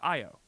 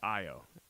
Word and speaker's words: Io: It's pronounced I O. It's not even E O, it's I O.